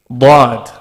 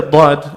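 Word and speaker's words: ض: Dad is just like the Sad in pronunciation in the sense that you apply these three rules that I've mentioned, the three golden rules, right? However, Dad, when you're pronouncing it, your tongue should be touching your palate the way you would say the letter Dal.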